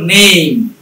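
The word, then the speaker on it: name: কি, and with ই, কোন শব্দ শেষই যদি হয় ই দিয়ে, তাহলে ই রিমেইনস অলওয়েজ সাইলেন্ট। যেমন নেম, এটা কিন্তু নেমই হয় না, ফেকই হয় না, কামি হয় না, টেকই হয় না, সিও হয় না।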